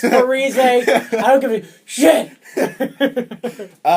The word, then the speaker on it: Zach Parise: just want to say my name got Canadianized, or whatever he said. He, like, slandered Canada. He's like, it's actually Zach Parise, and all the Canadians are like, fuck you, it's Parise.